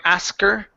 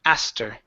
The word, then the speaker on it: asked: a stir okay yeah so instead of pronouncing a que sound saying asked her okay or ask her okay pronounce the T instead aster try that i stir ask her ask her I asked with the T so what I what